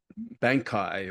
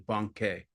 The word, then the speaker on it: Bankei: and over again, because I have a conditioned response to pronounce his name Bankai or Bankei or some Banki or some other things. So I think a lot of people have that problem. But anyway, the correct pronunciation, as I understand it, is Bankei.